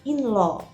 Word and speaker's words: in-law: pakai in lo itu ya bacanya bukan laut tapi lo inloh kemudian brother-in-law brother-in-law atau